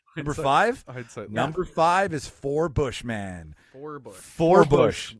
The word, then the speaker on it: Forbush: it number five number five number five is for Bush man for Bush four Bush not sorry not